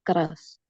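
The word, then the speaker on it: groß: La recomendación quizás en esta palabra es que unan el sonido de la G con el sonido de esa R. O sea, es como g. Solo la R sería g, pero con la G, g.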